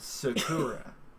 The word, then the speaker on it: Sakura: that more car character soccer I did that to see Barbara okay I believe you'll find it pronounced Sakura oh my bad well